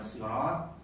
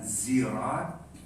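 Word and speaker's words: صراط: As-sirat ada 3 cara membacanya. Bisa dibaca sirat, bisa dibaca zirat, bisa dibaca sirat. Tiga-tiganya boleh. Tapi jangan dibaca waktu jadi imam, ya.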